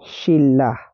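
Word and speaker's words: 신라: have Shin shin Okay ito ay magiging shila dahil si letter N ay naging letter L na siya or baliktarin natin letter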